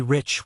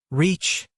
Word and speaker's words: rich: "Our English adverbs do not terminate in mong, and we pronounce the ch as if there were a t before it. We say rich." "Reach," remarked the foreign gentleman.